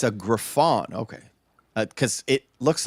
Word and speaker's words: griffon: a very intelligent very sweet dog it's a griffon okay cuz it looks like it's written like